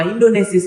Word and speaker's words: Indonesisch: Ketika dibuang ke negeri Belanda tahun 1913, ia mendirikan sebuah biro pers dengan nama Indonesisch Persbureau. Nama Indonesis adalah sebutan pelafalan Belanda untuk Indonesia.